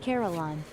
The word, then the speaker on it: Carillon: It's quite amusing to contrast the pleasant smiles of the older folk against the It's pronounced Carillon.